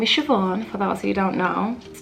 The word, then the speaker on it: Siobhan: However, it's not Iamsiobhan, it's not Siobhan, it's not Sivi, it's not Shirai, it's not Siobhan, it's just So my name is Irish.